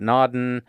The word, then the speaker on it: Naudin: and if you need a little memory tool for that one it's like the car Audi with an on either side and that's an easy